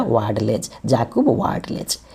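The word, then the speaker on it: Vadlejch: जकब ल डले ज वाड लेज देखिए स्पेलिंग है डब्लू ए डी एल ई जे सी एच लेकिन इसको हम पढ़ेंगे क्या वाड लेज जकब वाड लेज ये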